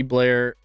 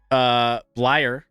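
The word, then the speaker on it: Bleier: in honor of Franco Harris, they should bring back Rocky Blair, Blyer.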